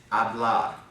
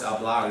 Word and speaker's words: hablar: The first one is hablar. Of course, the H is not pronounced.